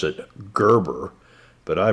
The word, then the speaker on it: Gerber: And I know some of y'all pronounce it Gerber, but I pronounce it Gerber, like the gerbil, you know?